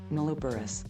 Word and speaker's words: nulliparous: a cohort of healthy nulliparous, how do you pronounce this word? Nulliparous.